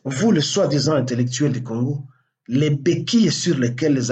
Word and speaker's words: Congo: avoir appris à Kanambe à prononcer Le Congo. Le Congo, pendant qu'il parlait Recongo, Recongo, Joseph moi, Joseph Kabila, plusieurs fois avant de prêter serment, il fallait qu'on répète ça.